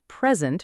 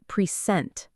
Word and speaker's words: present: They say the same sentence, but they stress the second part. "I bought you a nice pre-sent." Oh, I hear that all the time. The problem is, pre-sent with stress on the second part is not a gift anymore. It's a completely different word, a verb.